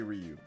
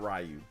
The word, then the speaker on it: Ryu: whatever who cares well Ryu Rio no those are different I know people used to say rayu and then Ryu you got to say Ryu it's not rayu but that one that